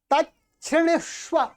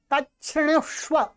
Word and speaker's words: तच्छृणुष्व: इसको क्या बोलेंगे, तच्छृणुष्व, तच्छृणुष्व। ये क्या है, छ और री, इसमें ऐसा मिला हुआ है। ठीक है, छ और ये री है तो छ्री, तो तच्छृणुष्व महामुने अस्ति